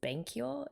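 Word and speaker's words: 勉強: So these two characters here in Japanese reads as benkyo, to study, but in Chinese those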